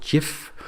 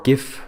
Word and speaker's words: GIF: a file extension called gif or gif it's pronounced both ways gif and it's an animation